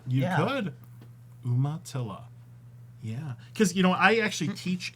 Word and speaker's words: Umatilla: Umatilla, because I just like saying Umatilla. Umatilla. All right. And you have to spell it right.